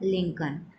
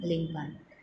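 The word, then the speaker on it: Lincoln: एन कि सीओएल and Abraham लिंकन की smell silent है हैं नेक्स्ट मैं इसे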